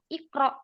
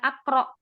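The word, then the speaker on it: اقرأ: Nah, itu kaidahnya di sini, maka dia dibacanya kasroh, ikro, bukan akro.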